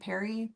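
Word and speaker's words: Peri: I am pronouncing it Perry, p e r i?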